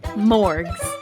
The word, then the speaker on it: Morgs: to call you morgs m o r g s and with a hard G not a soft one just so there's no